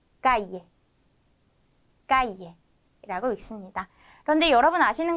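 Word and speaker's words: calle: 발음해 주시면 되는 겁니다 그래서 유비야 유비 야 까이에 까이에라고 읽습니다 그런데 여러분 아시는 것처럼 스페인으로 쓰는 나라가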